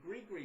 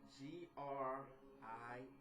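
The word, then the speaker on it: gris-gris: You also have the Gree bag, spelled G-R-I-S. G-R-I-S, G-R-I-S. I know it looks and it's spelled like it should be saying gris or something like that, but it's called Gree, like G-R-E-E, a Gree bag.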